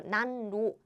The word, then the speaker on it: 난로: It's very difficult to pronounce N and L together. 난로. I mean, it's not super difficult. You can, but there is an easier way to pronounce it. What is the easier way? Change this to L, double L, as in 난로, heater, 난로.